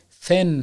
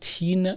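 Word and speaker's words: thin: صفت‌ها اولین صفتم صفت فن هست ببینید تین تلفظ نباید بشه نن به معنای لاغر هست همچنین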